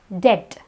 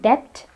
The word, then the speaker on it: debt: We also have debt. It's not debt, it's debt. We also have plumber. It's not plumber, it's plumber. In all these words, the B is silent.